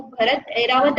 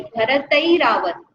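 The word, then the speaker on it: भरतैरावत: गया, तो भरतई रावत, उसको भरत ऐरावत ऐसा नहीं, भरतई रावत, तई, तई बोलना, उसमें त में ए लगाना, आखिरी में ई का प्रोनाउंसिएशन है, भरतई रावत, आई बोलते हैं ना डबल ए की मात्रा को, उसमें ई का प्रोनाउंसिएशन होता है आखिरी में।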